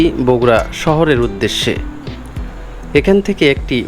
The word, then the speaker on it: বগুড়া: অঞ্চলের নাম হয়েছিল বগড়া ইংরেজি উচ্চারণ বগড়া হলেও বাংলায় কালের বিবর্তনে নামটি পরিবর্তিত হয়ে বগুড়া শব্দে পরিচিতি পেয়েছে দোসরা এপ্রিল 2018 সালে